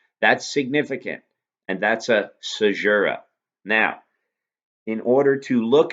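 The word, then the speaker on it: caesura: type of lineation to analyze is called a sajura that's how it's pronounced it's spelled c-a-e-s-u-r-a-s and again in jammin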